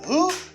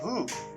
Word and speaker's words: who: You say who. When I'm talking about qui, I say who. You know, who. Qui es-tu? Who are you? Not who are you. Because you do not pronounce W in this word.